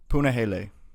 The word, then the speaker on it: Punahele: Up next, we have Punahele Soriano taking on Nikolai Veretnikov.